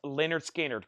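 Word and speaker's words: Lynyrd Skynyrd: analog to LP 45 RPM and this is Leonard skinnard pronounced Leonard skinnard cut from the original Master tapes that is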